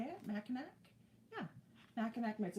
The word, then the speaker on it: Mackinac: Mackinac mitts.